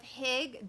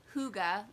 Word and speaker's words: hygge: the little book of hIgG danish secrets to happy living or it's not hIgG its hygge it has the pronunciation on the front thank goodness cuz to me that looks like hIgG the little book of